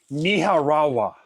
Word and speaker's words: Nicaragua: happening in Nicaragua and she pronounced it Niharawa. She may. And I'm not saying that's wrong or right or what.